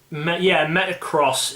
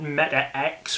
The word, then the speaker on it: MetaX: Metacross is the official way of pronouncing it. A lot of not MetaX, which I've heard is what people are saying.